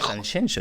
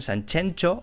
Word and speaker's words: Sanxenxo: Y como muchísimos veranean en Sanxenxo, claro, no saben decir Sanxenxo, dicen Sanchencho o Sanjenjo.